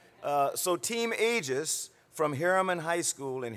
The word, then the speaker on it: Aegis: you know we've got Aegis cruisers but i think you pronounce your name is you pronounce it Aegis see I knew I'd get it wrong so team ages from Herriman high school